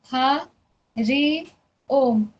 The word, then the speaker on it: हरि ओम: ह ऋ ओम तीन शब्दों से मिलके हरि ओम बन रहा है। तो पहले ह ऋ ओम ऐसे हमें इसको प्रोनाउंस करना है। उच्चारण करना है इसका।